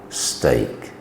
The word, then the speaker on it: steak: E and A form the sound of A, as in break, great, steak.